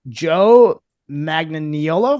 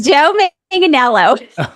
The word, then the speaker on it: Manganiello: But I hope I'm pronouncing this right. Joe Magnaniolo. Is that how you pronounce it? No, it's Joe Manganiello.